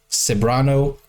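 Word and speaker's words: Ceberano: his performance also and the Beautiful Kate saano pronounced saano thank you so Kate saano is just amazing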